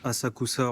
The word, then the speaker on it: Asakusa: En fait, ça se prononce Asakousa en japonais et du coup en chinois. En fait, ils ont gardé les caractères originaux chinois euh pour qui se prononce Senso. Du coup, Sensoti, c'est la prononciation en chinois avec les caractères chinois et Asakusa du coup c'est en japonais.